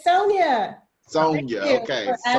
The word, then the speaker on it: Sonia: Is it Sonya or is it Sonya? It's Sonia.